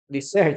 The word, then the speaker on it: dessert: Okay, the stress goes at the last syllable.